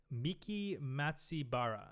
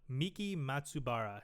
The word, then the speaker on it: Miki Matsubara: By uh I got to pronounce her name. I don't want to fudge it. Good luck. Uh her name is Miki Matsibara. Oh no. Miki Matsubara.